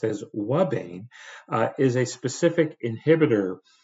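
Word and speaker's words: ouabain: under experimental conditions a compound referred to and pronounced as Wane uh is a specific inhibitor of the protein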